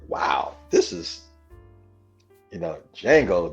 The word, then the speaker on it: Django: So in this movie, the marketing was like, wow, this is, Django, the D is silent.